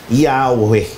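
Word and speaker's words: Yahweh: o pag pinagsama yung pinaniniwalaang wastong pagbigkas nito ay Yahwe.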